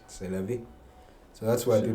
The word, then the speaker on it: c'est la vie: Because now you tell someone c'est la vie, it's really does cheste la vie, but it's not correct. C'est la vie.